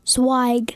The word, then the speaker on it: Zweig: sure I say your last name once you pronounce it for me go ahead swag swag Avery swag she is 9 years old